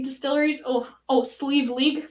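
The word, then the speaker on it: Sliabh Liag: one is my favorite uh single malt from slime leg distilleries oh oh sleeve league sleeve league is how it's pronounced thank you from donegal ireland 22 parts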